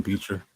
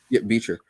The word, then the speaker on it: Bichir: Let me make sure I'm pronouncing his name properly. Damien Beecher. Yeah, Beecher.